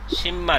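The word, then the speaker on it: 십만: এখন হচ্ছে শিব, তারপরে মিয়মের পরে আ, নিচে নিয়নের ন, অর্থাৎ বিয়োগের পরে মিয়ম আসলে বিয়োগের উচ্চারণ ম হবে। উচ্চারণ কি হবে? সিম্মান।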